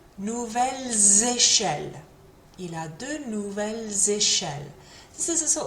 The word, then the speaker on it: nouvelles: However, if there's a vowel that comes at the start of the next word, then that S does get pronounced, although it gets pronounced kind of like a Z again.